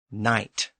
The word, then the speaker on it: knight: So as we've seen, the K at the front of words like knight, knife, and knot has disappeared.